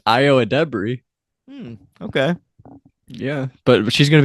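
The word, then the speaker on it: Ayo Edebiri: say it properly so is that really it's IO ad Deb is how you say it is that true the first time I saw it I thought it was AO edir yeah that's how I pronounce it in my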